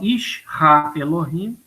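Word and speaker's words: איש האלהים: Então, Ish Ha Elohim, o homem de Deus.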